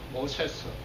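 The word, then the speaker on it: Moses: 근데 이게 원래 발음은 영어 성경에 보다시피 모세스입니다. 모세스.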